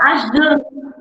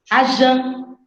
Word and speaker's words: Ashjan: Como é que pronuncia o seu nome? Pode falar Ajan. Achan? Ajan. Ajan, tá bom, Ajan.